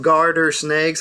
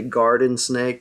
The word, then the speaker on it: garter snake: tell if it's from 1917 and they're called garter snakes a lot of people mispronounce that and say garden snake they they think you know these are found